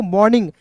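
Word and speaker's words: morning: एम ओ आर एन आई एन जी। मॉर्निंग नहीं पढ़ेंगे। इसे पढ़ेंगे मॉर्निंग। क्या पढ़ते हैं दोस्तों? मॉर्निंग। यहां पे आर जो है साइलेंट होता है।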